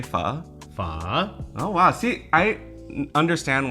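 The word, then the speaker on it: phở: Pho. Oh wow, see, I understand why people think you're Vietnamese now, because your pronunciation is actually really good.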